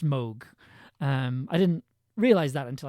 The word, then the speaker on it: Moog: Moog rhymes with Pogue.